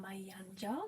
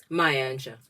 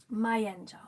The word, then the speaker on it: Mayanja: too um welcome Mayan that will very good pry good how do you say it mayanja mayja okay I think there's more of an emphasis on the ma and the yah and